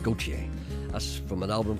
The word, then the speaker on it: Gauthier: It's French, pronounced Gauthier.